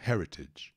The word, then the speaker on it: rarity: chatinha de falar também primeira sílaba que a tônica harryti harryti harryti esse te pode ser som de ter mesmo ou então são de dado quando você fala um pouco mais rápido na inglês americano vida harryti harryti harryti